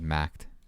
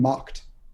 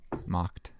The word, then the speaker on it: Macht: I think I said Macht. That's fine. It's been butchered. So it's like imagine Macht 3 with a T at the end. Macht. Macht. Okay. German, the doer to make.